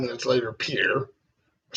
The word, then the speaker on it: Pierre: It looks like a French name, but it's not pronounced like a French name. Trudeau, South Dakota. Yes, close. I don't know. Pierre. Oh, like But Pierre. Pierre, yeah.